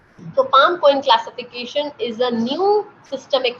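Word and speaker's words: PALM-COEIN: Thus, mnemonic is written down, which is pronounced as palm coin. So Palm-Cohen classification is a new systemic classification, and to remember the causes, you need to remember this Palm-Cohen.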